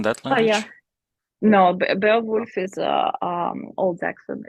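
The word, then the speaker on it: Beowulf: it was pronounced back then and why it's spelled like this now. So I I just recall that there's there's this poem called bailwood. Is it in that language? Oh yeah. No, Be Wolf is um Old Jackson.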